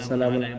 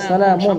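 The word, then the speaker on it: سَلَامٌ: রাহিম এরকম আছে এখানে সালামুন সবগুলোর মধ্যে সালামুন সালামুন সালামুন দুই পেশ কোরআনের শব্দের মধ্যে এটা দুই পেশ কিন্তু মানে উচ্চারণের ক্ষেত্রে যারা বিদাতি তারা সালামু বলে তাই না তো এটা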